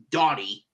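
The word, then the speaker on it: Dani: I was also, because I saw a female Danny spelled D-A-N-I, knowing that this Danny, or pronounced Dottie, is a young man.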